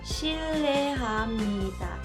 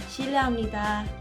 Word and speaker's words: 실례합니다: La tercera y la cuarta sílaba no tienen mayor ciencia, son muy básicas. La tercera sería NI, ni. Y la cuarta DA, da, ni da. En total la pronunciación sería 실례합니다, 실례합니다. Una vez que el coreano